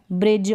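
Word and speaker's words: bridge: यहाँ पर साइलेंट है, तो यहाँ पर ऐसी कंडीशन में ये डी नहीं पढ़ा जाएगा।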